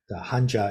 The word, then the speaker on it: Hanja: In Mandarin, this is pronounced something like Z. So in Mandarin, the Hanja is pronounced Hanza.